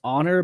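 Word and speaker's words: Xonor: Actually, if you look up um it's pronounced honor but it's spelled X O N O R.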